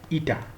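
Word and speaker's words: eta: is pronounced as this this symbol here is pronounced like this ita this is It we call it that's the the symbol that we have.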